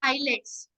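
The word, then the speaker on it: islets: So hormones are produced by eyelids. Okay. These are the cells. This is the group of cells. Okay. Yes. They produce the hormones. Eyelids. S is silent in this.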